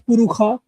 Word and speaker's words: Purusha: For example, certain Shakha would pronounce Purusha as Purukha, right?